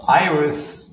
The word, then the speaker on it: Iris: Your tool is called IRS, right? Iris, Yeah, Iris. the name of the platform. Exactly. Yeah. Spelled like IRS.ai.